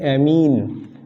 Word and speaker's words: amine: तो प्रोनाउंसिएशन भी इन दोनों का सेम ही होता है, बट मैंने अपने तरीके से बोलने में अमाइन और इसको एमीन कहना थोड़ा सा स्टार्ट किया ताकि थोड़ा सा क्लैरिटी आए स्पेलिंग में और थोड़ा डिफरेंस भी लगे। तो NH3 को अमाइन बोल देता हूँ मैं, और इसको एमीन